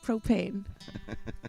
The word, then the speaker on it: propane: i say wrong but propane we'll say again what is it usually when the accent is on the first syllable but sometimes she says